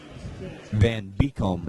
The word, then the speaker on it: Van Beekum: That is Van Keekum. Van Beekum is how you pronounce his name.